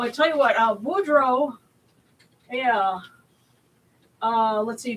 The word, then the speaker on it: Boudreaux: Uh Boudreaux Yeah. Uh let's see. B O U D R E A U with an X. X, yeah. B O U D R E A U X.